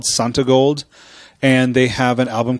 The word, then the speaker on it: Santigold: bunch of faults printer no it is sant it is santi gold it's an I their